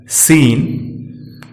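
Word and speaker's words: scene: अब बात सी की करें तो सी जब एस के तुरंत बाद आता है तो सी साइलेंट रहता है, जैसे साइंस, सीन।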